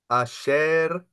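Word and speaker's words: אשר: there's only two syllables in this word, and the other syllable is a shortened patah. When you have a vowel in Hebrew together with a shava, that means you're under accenting it.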